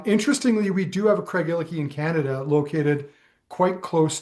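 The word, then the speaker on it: Craigellachie: My understanding is that the proper one is Craigiliki. Um, you kind of you put a bit of an inf uh a bit of an emphasis um on the E in the middle.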